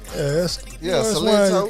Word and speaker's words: Silento: Silento.